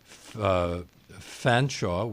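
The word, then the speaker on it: Featherstonehaugh: looks like a Mousehole there's also Fanshawe which looks like Featherstone haw that's my favorite and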